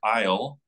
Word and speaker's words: isle: yellow it's not good a word aisle like the British Isles that word is from French i-s-l-e it's a silent s this is English it